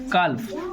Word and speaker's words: calf: इसमें साइलेंट कौन सा लेटर है? CALF है, क्या साइलेंट है? नहीं, इसमें L रहता है साइलेंट बेटा, L भूल गए क्या?